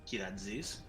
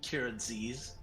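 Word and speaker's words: Kyratzes: last name is pronounced kirazis um that that was the greek pronunciation kiraziz if you want to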